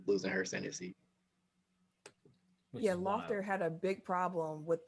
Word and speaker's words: Loeffler: Yeah, because a reminder, Kelly Loeffler. Is that how you pronounce it?